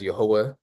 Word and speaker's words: Yehovah: We pronounce the name as Yehovah.